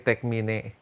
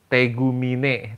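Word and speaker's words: Tegmine: dan nanti keluar si tekmine ya gua gak ngomong tem karena e kata kanannya itu tek Mine bacanya tegumine tegumine baca bukan te m tumine Oh anding iya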